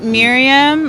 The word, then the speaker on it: Miriam: MIRIAM like Mary.